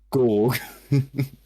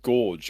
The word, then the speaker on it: Gorg: It's Gorg. Gorg. Yes, he is the god of vengeance. Is that pronounced gorge because he looks so good? Gorg. Oh, George. No, Gorg. There's no E.